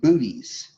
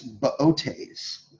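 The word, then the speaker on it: Boötes: It looks like booties, but it's Bootes, okay? Here's how you spell that. B-O-O. The second O has an umlaut.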